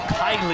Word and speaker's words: Kaylee: Kaylee Byers takes this next responsibility with the wide open stance. No interest in that rise ball. And if we say it properly, it's Kylie, and Kylie is out of Mechanicsville, Virginia.